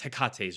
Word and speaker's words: Hecate: It's not Hecate, it's Hekat's Wraiths.